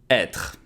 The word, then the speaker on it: être: to be pronounced /a/ Être... so yeah, this is also very tricky E with the accent circonflexe Why? Because sometimes it can be pronounced like E accent aigu or sometimes E accent grave Historically, this accent is